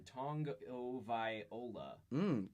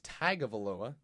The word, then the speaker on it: Tagovailoa: So, we're getting some pronunciation coming in. Tagovailoa. Tagovailoa. All right. I believe it's Tagovailoa.